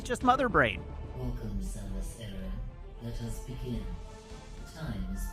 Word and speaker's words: Aran: the game does not know how to pronounce the main character's surname. If it did, it would be pronouncing it Aran.